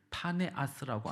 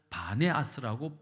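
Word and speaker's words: 바니아스: 지금은 이 도시의 이름을 파네아스라고 안 하고 바네아스라고 부르는데 이유는 아랍 사람들이 피읍 발음을 잘 못해요. 그래서 바네아스라고 부르게 되어서 지금은 이스라엘 지도에 바네아스라고 기록이 되어 있습니다.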